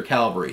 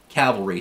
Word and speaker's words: cavalry: troops who weren't infantry or calvary so cavalry sorry pronunciation police but um so this